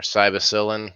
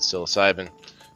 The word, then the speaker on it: psilocybin: full um um yeah they do not have psilocybin or cybercillin if you're some of some people pronounce it that way not myself I pronounce it psilocybin but yeah this is